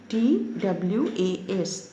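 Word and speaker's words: 'twas: was mean it was apostrophe it is in the beginning t w a s it was that you have to you will pronounce it as twas it was certain he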